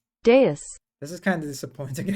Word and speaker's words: dais: do you pronounce it? Dais. Dais.